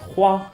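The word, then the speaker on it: 花: And as a matter of fact, this character means flower and it's pronounced hua, so here only the tone changed a little bit.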